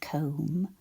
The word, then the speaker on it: comb: So the spelling language for this word C O M and another sound that we can't hear when we say the word comb, but we need to remember to write it.